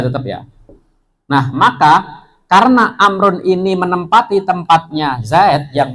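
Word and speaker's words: عمرو: Amrun sama Umaru. Nah, bedanya di situ, ada wawunya sama nggak ada wawunya. Cara bacanya, jangan kalau nanti tulis Umar tapi ada wawunya ya, gitu ya.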